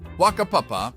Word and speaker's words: Whakapapa: Whakapapa, pronounced Whakapapa, might draw a stifled giggle from those unacquainted with Maori language nuances.